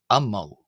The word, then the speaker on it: ⲙ̀ⲙⲁⲩ: So imagine the diiocritical mark the jenkum or jinkim being as if it was written the letter a before the m as if this word was spelled a m m a u and it is pronounced am mo ammo.